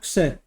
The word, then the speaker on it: क्षय: शुक्र क्षय के कारण, क्षय बराबर 6, यूपी वाले 6 बोलते हैं, क्षत्रिय वाले क्षय। अब और सही प्रोनाउंसिएशन होता है क्षय, आधा क और शक्कर वाला से।